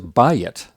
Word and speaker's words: bayit: An example of a two yod Segholate is bayit, very common word for house. It's got the same pattern. It's got a accented first syllable and it's two syllables, but notice that the vowels are very different.